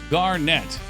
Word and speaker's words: Garnet: The name Garnet is pronounced Garnet, but the emphasis on the first Gar syllable, net.